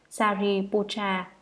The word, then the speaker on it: Sariputra: Ngài Xá Lợi Phất, Ấn Độ đọc là Sariputra, chữ Hán là thân tử.